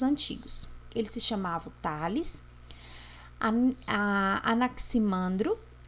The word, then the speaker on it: Anaximandro: Pronuncia-se Anaximandro e pronuncia-se Anaximenes.